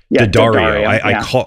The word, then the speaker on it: D'Addario: I think I'm saying that right. D'Addario. I didn't add once and I called and heard them say it on the phone and then hung up and that's how you say it.